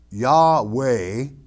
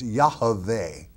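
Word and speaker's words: Yahveh: in the truth it's yahave to pronounce it correctly y-a-h very small a sound v-e-h and the vit is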